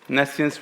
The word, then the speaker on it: Nescience: best but it's like Nessian state separation architecture uh and it enables um selective privacy I will go through selective privacy later uh the pronunciation is nessian so nessian actually means